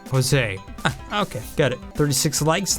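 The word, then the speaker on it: José: And the other guy's name's usually accent, it's pronounced Jose.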